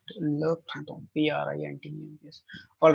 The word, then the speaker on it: printemps: P-R-I-N-T-E-M-P-S. All right. Le printemps. Le prin. The correct pronunciation is prin. Always remember, IN will give you a sound of un.